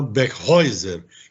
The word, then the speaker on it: Beckheuser: Trata-se da CEO Mariana Beckhäuser, que é assim que se pronuncia o nome dela.